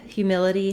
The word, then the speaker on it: humility: So the word humility has the stress on the middle syllable, mil. That means that syllable will be long and stretched, and the hu and the itty syllables are going to be